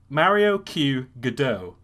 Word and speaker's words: Mario Q. Godot: about captain mario ku mario q godot uh did i pronounce that correctly yes you did excellent so um yeah